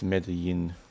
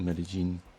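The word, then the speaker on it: Medellín: I think it's Medellin, or Medellin. Depends what Latin American country you are from.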